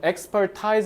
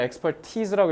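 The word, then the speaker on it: expertise: 학습을 하는 건데 그게 뭐 우리의 전 expert가 아니라 experti라고 읽어야 돼.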